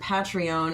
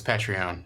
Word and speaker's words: Patreon: were gonna pronounce it Pat reown and then when you realize everyone else is pronouncing it differently you just leaned in no it's patreon okay great it's based on the word patron so it should be